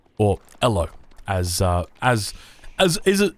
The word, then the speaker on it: Elo: it comes to matchmaking you are fighting over elo or ello as uh as as is as it should